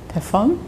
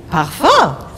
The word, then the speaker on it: parfum: Parfum? Parfum.